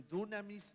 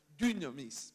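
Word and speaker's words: δύναμις: dynamis, que en realidad no es ni dunamis ni dinamis, pero es un tema de fonética más que nada. Alguien dijo, es la U francesa, y la U francesa se pronuncia poniendo la boca así.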